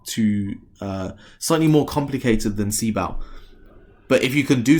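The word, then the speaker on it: CBOW: works otherwise you know I like to call it see bow instead of see bows as I'm sure many of the academics would say it's pronounced and skip ground and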